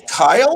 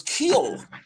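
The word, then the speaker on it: Kiel: Hey, is it pronounced Kyle, or I always thought it was Keel? Yeah, I think it is Keel. And I was thinking I mispronounced that all my life.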